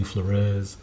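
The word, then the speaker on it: Fleureus: to Facebook just type in my name flarez last name is spelled f l e u r e u s um yeah know you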